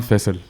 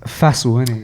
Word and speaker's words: Faisal: say my name is yeah um fissile yeah there you go yeah so now if you convert into English it just becomes fast one okay so mad enough fissile look at many faster than he I'm not